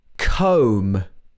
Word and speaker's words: comb: pronounced that one wrong another common pattern is when you have a b after an m the b is often silent for example lamb mary had a little lamb this is a common kids nursery rhyme comb is another example comb i comb my